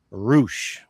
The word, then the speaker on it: Reusch: According to my family, they have always said rouch. Like rouch. Okay. As in kangaroo, right? Roo.